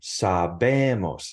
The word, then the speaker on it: sabemos: And look, even for the nosotros form, sabemos. It's the second to last syllable.